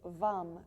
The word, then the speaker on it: vam: And the bija mantra, or the single syllable mantra for Svadhisthana, or the sacral chakra, is VAM, V-A-M.